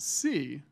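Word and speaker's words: Sie: If anyone was wondering, it is pronounced C, even though it's spelled S-I-E. So now you know. You've already learned something this evening. So how many people pronounced it Psy before I just said that?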